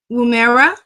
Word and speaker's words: Woomera: He launched two solar sounding rockets from Woomera. Did I pronounce that correct, Dr. Strong? Woomera, Boomerang. Woomera, South Australia.